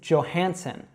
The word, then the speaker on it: Johansson: So it's Johansson. Johansson. You should just say one of those S's there, and then what a lot of people mispronounce here is the J.